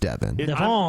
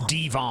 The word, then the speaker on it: Devon: I believe it's pronounced Devin. It's Devon. I am Devon.